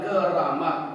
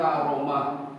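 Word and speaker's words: كرامة: ditambah Rahmat ditambah nikmat jadi Karamat orang Jawa bilang keramat aslinya Karamat membacanya karamah karamah hanya Allah berikan kepada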